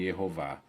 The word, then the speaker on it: Yehová: Outro ponto, então isso aqui indica que o nome de Deus era pronunciado Vá no final. Termina com Vav e Re, ó. Vá é a sílaba aberta e tônica, o Vá no final de Yehová.